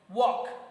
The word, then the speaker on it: walk: Walk. Okay, in walk there is also L silent.